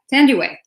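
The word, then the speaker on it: Thandiwe: to say my name correctly now so yeah tandy way and and turning the clock back about 60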